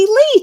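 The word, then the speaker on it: Leigh: for fun a lot it's not Lou it's close close Lee Tammy got it but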